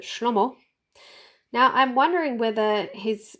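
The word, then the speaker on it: שלמה: And so you pronounce Solomon Hebrew, you pronounce it Shlomo.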